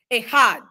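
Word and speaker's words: אחד: is here it is the first word is Ahad uhhuh Ahad you can type that in the chat however it sounds to you Ahad e h a d it's spelled e k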